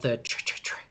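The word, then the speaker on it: tretretretre: in the forest and it's called the church um which is it's spelled t-r-e-t-r-e-t-r-e um and it makes like a ch sounds like is what they would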